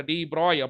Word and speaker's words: de Broglie: டி ப்ராக்லி அதை டி ப்ராய் அப்படின்னு நம்ம ப்ரொனவுன்ஸ் பண்ணலாம்.